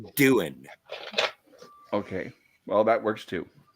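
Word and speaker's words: Doohan: play pool at roddenberry's house with uh James Duhon no way it's pronounced doing okay well that works too all right I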